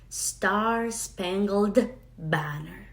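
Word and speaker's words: Star-Spangled Banner: Star Spangled Banner. Star es fácil, star, estrella. Spangled, aquí hay que pegar la G, la L y la D. Spangled y luego banner con acento en ba.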